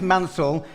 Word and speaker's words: Mansell: remember my name was i'd say my name's mansell and then i say remember nigel who heard of nigel mansell yeah yeah but that